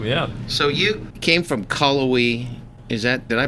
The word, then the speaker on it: Cullowhee: So you came from Cullowhee. Did I pronounce that right? Cullowhee, North Carolina.